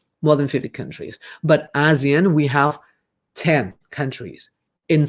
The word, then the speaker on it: ASEAN: in southeast asia and asean there are 10 there are 10 okay please pronounce correctly for this word it's asean asian which is short for the association of southeast asian nations one more time of